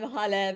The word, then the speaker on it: Hale: Well, I'm Hale, pronounced like hallelujah.